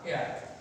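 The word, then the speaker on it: heir: এরপর আমরা বলতে পারি অ্যান এয়ার, এইচ ই আর আর, এয়ার। এখানে এর মানে উত্তরাধিকার, এই উত্তরাধিকার এয়ার, এখানে কিন্তু এইচ আছে, কিন্তু এইচ উচ্চারণ না হয়ে এটা হচ্ছে কি এয়ার, এয়ার।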